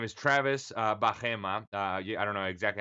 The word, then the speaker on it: Bajema: remembering my name, it's you say buy him a Coke really fast. So you just say buy him a Coke and you'll never forget it. Okay, so the way to pronounce it is Bajema.